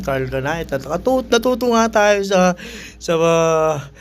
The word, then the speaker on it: Carhartt: Camaro shakur Carl kh tawag ko nga diyan dati Carl cani may carc pero ang tamang pronunciation nito Kasi nagbenta ako nito sa evento What What is carc sabi saakin ng ng Americana ay American Black American sabi niya bro This is si Carl kanay yun Carl kanay natuto nga tayo sa